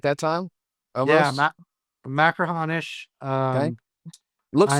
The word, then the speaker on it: Machrihanish: Machrihanish.